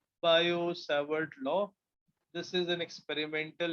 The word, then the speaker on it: Biot-Savart: Similarly, to find the magnetic field due to current carrying wire, we have another experimental law called as Biot-Savart. T is silent. Biot-Savart law.